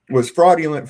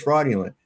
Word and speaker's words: fraudulent: There's no G or a J in there. There's no J or G.